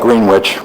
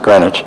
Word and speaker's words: Greenwich: Of course, in New York, I live near a town called Greenwich. We don't pronounce it Greenwich.